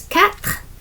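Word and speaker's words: quatre: Four is cat.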